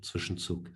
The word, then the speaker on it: Zwischenzug: As German is my first language, and Zwischenzug is a German word. I choose to pronounce it correctly.